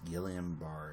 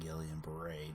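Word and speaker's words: Guillain-Barré: we're going to discuss guillain-barre syndrome and Gillian braids depending on how you want to pronounce it and I think that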